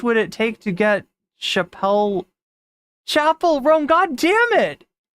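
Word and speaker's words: Chappell Roan: See, one person mispronounces a name and then now all of a sudden I'm saying Chappelle Roan. When I know, how much would it take to get Chapel Roan?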